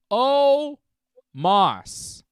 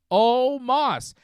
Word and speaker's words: O Moss: last name right Moss just add an O you know like an O Apostrophe like O'Neal o Moss it's not complicated oh Moss it's like you're saying Moss's name just with an O before it not almost anyways uh